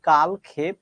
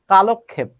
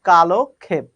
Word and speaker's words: কালক্ষেপ: দেখো একটু মনে হচ্ছে প্রশ্নটা কেমন জানি কিন্তু না আসলে সত্যি কথা বলতে আমরা বলি কালক্ষেপ এই উচ্চারণটা ভুল করি আসলে এটার সঠিক উচ্চারণ হচ্ছে কালক্ষেপ আবার বলছি কালক্ষেপ অর্থাৎ কালকে বলতে হবে